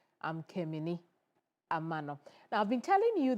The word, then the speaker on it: Keminni Amanor: Now, uh for our viewers in Sunana who say that I should slow down in pronouncing my name. I'm Kim Amano.